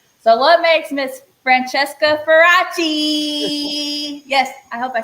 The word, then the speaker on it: Faraci: So, what makes Miss Francesca Ferachi?